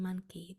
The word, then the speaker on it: monkey: e five sounds in monkey that o at the beginning I'll spell it for you in the chat that o the beginning is sounding like a schw sounds like a a m um and then that n